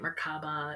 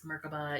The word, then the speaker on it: Merkaba: Is some people say it Merkaba. It's Merkaba.